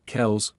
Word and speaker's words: Kelce: Fortunately, Ed never took the mispronunciations personally. In fact, when asked if he wanted to be called Kels going forward, he said, "Do whatever you want."